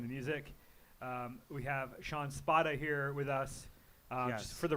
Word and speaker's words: Spada: Just for the record, for the people at home, it's Spada. It's not Spada. It's Spada. Well, Spada is like, I guess, the Italian way to pronounce it, so it's an Italian name.